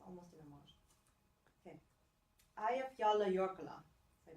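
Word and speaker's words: Eyjafjallajökull: Eyjafjalla Jökull, I pronounce it.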